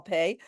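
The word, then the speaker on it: פ: If it has a dot in the middle, it is called Pei, although the letter itself we call Pei, but it's pronounced with a P sound.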